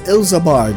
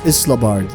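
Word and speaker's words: Ilsabard: and guidance you require so it's elsa bard i've been pronouncing it as isla bart ills the bard all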